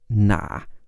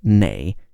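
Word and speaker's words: 哪: words after which and the word for which is normally na which can also be pronounced nay in parts of North China if you wanted to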